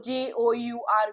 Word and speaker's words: jour: Ou is u. Right. So j o u r will be jour.